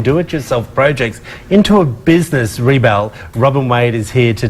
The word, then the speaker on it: ReBelle: So, I do pronounce the business right. ReBelle. ReBelle.